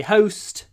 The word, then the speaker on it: host: host um and please remember when you say host it's got a D it's it's like cope